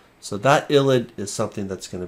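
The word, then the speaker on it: ylide: So it is pronounced ilid.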